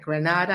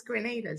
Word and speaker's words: Grenada: having having me and congrats on getting the pronunciation of grenada right because so many people like granada i'm like no it's grenada i'm i'm grateful that